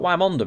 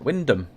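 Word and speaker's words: Wymondham: you've got uh oh so it's not why i'm on them it's win windham it even tells you how to pronounce it i need stuff like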